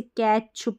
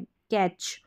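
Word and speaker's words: catch: जैसे डेस्क हो गया फिर टी सी एच को हम च पढ़ते हैं टी सी एच को जैसे कैच पढ़ा तो यहां पर देखा जाए तो सी एच का साउंड च रहता है टी साइलेंट है कैच फिर डी जी ई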